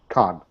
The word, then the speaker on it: Khan: Khan. Khan, K-A, like Khan, like the Wrath of Khan. Like the Wrath of Khan, correct.